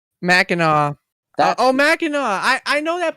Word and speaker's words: Mackinac: pronounce this it's it's it's m-a-c-k-i-n-a-c mackinaw oh mackinac i know